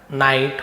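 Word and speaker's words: knight: knife no है ना नाइट होता है ना के ए नाइट राइडर शूरवीर वाला नाइट के एन आई जीएसटी तो के एन एक साथ रहता है तो के साइलेंट रहता है तो नॉग नॉग याने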